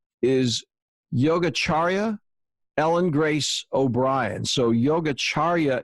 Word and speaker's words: Yogacharya: And her name, I'm going to try to pronounce this correctly, is Yogacharya Ellen Grace O'Brien.